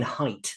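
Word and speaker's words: Haidt: it's by gag or Jonathan height it's pronounced height it's h i h AI DT um and he talks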